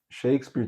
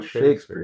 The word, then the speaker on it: Shakespeare: Mas a gente falou muito do Shakespeare aqui, o foco da história não é Não é o o Shakespeare, é Shakespeare.